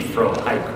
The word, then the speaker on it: Frohike: Frohickey, that his name was supposed to be Frohike, wasn't it? Was it Frohike, the pronunciation originally? I'm actually asking you, Julie Lynn. Well, no, it's Frohickey.